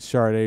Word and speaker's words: Sade: Sade, yeah, the way you're Sade. supposed to say it.